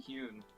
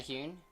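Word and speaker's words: Huynh: Oh, Aaron Hune. Is that Hune? Okay. Yeah, it's Lisa. Okay. I went to um Colorado Champs and he was there and that's how they pronounced it. Okay. Noted. Aaron Hune.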